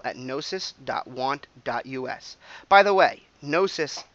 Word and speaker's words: Gnosis: By the way, Nosis, the G is silent. It's a Greek word, and it's a Greek word for specialized knowledge, which is why I picked it for this project.